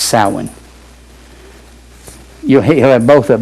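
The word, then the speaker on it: Samhain: S A M H A I N is pronounced sin.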